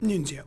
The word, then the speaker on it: Nunzio: But Nunzio. We'll go with Nunzio. You said it right. Yeah, Nunzio. Thank you.